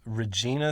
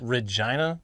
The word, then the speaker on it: Regina: People got real mad at us a couple weeks back because we pronounced Regina, Saskatchewan. Apparently it's pronounced Regina, which I refute.